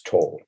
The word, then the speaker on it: Toel: In America, it's just to pronounce Toel.